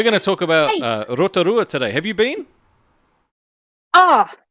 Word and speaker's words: Rotorua: And you have to pronounce it in the Maori terminology. The rest of it's Rotorua, not Rotorua. It's Rotorua. I didn't say Rotorua. I said Rotorua. Eh? It's like Taupo.